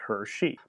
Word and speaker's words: Hershey: And they were taking advantage of the happy accident of their name, which phonetically sounds like Hershey.